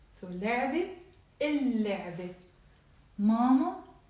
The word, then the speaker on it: اللعبة: If I want to say the toy, I'm not going to say لعبة. One of the lambs is not pronounced. اللعبة. ليه? Why? لأنه because لام حرف شمسي.